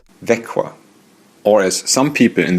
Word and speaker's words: Växjö: My next stop was the Swedish city of Växjö, which is pronounced like this. Växjö. Or as some people in the north of Sweden would say, Växjö.